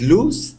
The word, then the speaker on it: loose: you're doing just fine so the word is hang loose just with that s sound no sound afterwards loose hang loose try